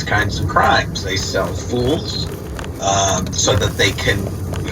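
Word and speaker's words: fullz: Rings gain access to there's a word spelled f-u-l-l-z and pronounced fools what does that refer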